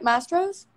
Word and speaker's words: Mastro's: Mastro's?